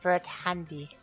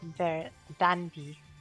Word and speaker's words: Verdandi: Yeah, they write it as Operation Bird Handy, but they pronounce it as Verdandi, which also sounds a lot like Bell Dandy, and either Verdandi, Bird Handy, or Bell Dandy or whatever.